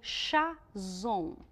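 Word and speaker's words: חזון: ali na no original como chá zon ch z o nx a zon assim como se fala tá bom eu quero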